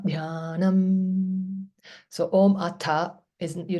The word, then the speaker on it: Dhyanam: And DH means aspirate, big breath. Dhyanam, Gita, Dhyanam.